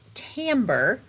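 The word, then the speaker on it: timbre: begin talking about tamber now it looks kind of like timber for those of you who remember that word from before but it's called pronounced tamber and it means different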